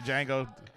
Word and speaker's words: Django: the Django like the Django DJ NGO the D is silent yes I know see I